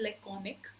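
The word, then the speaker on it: laconic: Okay, ये जो word है इसकी प्रोनाउंसिएशन होती है लेकॉनिक.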